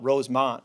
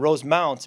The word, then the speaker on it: Rosemount: from Rosemount Minnesota and I always mispronounced it because I would call it Rosemont because that's where I was from near in in Illinois and Rosemount Minnesota and then I